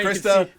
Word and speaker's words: Krista: Well, now Krista.